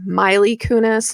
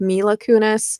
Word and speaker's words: Mila Kunis: I, for whatever reason, just keep wanting to call her Miley Kunis instead of Mila Kunis.